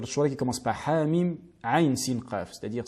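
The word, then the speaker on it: عين: Et enfin la lettre ayn en bleu, dans kaf ha ya ayn sad et ayn sil qaf, qui sont toutes prolongées, qui sont dans les 2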